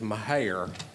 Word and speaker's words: Mejia: Well, the accurate pronunciation, not to correct you, is Mejia.